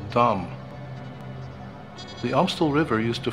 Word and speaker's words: Dam: of town this place is called Dam D Dum the stel river used to flow right through